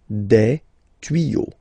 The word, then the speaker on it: tuyaux: Des tuyaux. Same rule. You don't pronounce it.